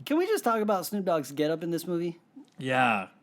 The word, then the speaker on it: Snoop Dogg: It's pronounced dog. Snoop Dogg. You know, The that- second G is silent, or the first G is silent. What? No, they're both not silent. It's Snoop Dogg.